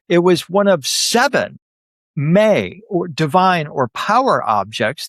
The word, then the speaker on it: me: Along her journey, she acquired these seven me or power objects. The word me is spelled m e, but it's pronounced me.